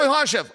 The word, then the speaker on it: Makhachev: Makhachev. Oh, Makhachev.